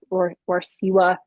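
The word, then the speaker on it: Warsewa: um so Hely Rara Warsa is how you say it um ended up making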